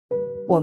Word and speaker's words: AN: AN (pronounced ON) conversion is a major process